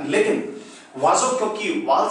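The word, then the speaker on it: oiseau: हैं प्रोनाउंस क्या करेंगे, ओ आई का कॉम्बिनेशन आपको याद होगा हमेशा वा की साउंड देता है, वा एस ज की साउंड देगा और ई ए यू मिलके ओ की साउंड देता है, तो ओ आई एस ई ए यू को हम क्या प्रोनाउंस करेंगे, एग्जैक्टली वाजो, वाजो, वाजो का मतलब है बर्ड।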